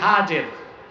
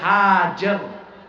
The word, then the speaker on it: হাজের: তুমি তোমার আমার স্ত্রী হাজের। যাকে আমরা বলি হাজেরা। হাদিস শরীফে তার নাম এসেছে হাজের। কি নাম? আমরা বলি সমস্যা নাই। শুদ্ধ উচ্চারণটা কি? হাজের।